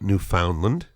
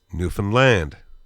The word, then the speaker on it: Newfoundland: Newfoundland, it's not Newfoundland, it's not Newfoundland, it's Newfoundland. So there's a little rhyme that we tell people to help them remember how to pronounce this place as defined from within. This little rhyme is quite simple. It's understand Newfoundland.